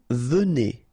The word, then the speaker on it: venez: Vous venez, okay? So Z at the end combine will give you the sound E, and here you've got venez, vous venez, all right?